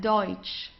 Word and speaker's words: Deutsch: So we very often have this combination of E and U. So it's Oi, okay? The pronunciation is Oi. Okay, let's try that. Deutsch.